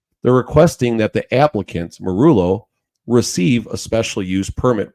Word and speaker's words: Meruelo: How you say it again? Meruelo. Meruelo. Like Tom Morello.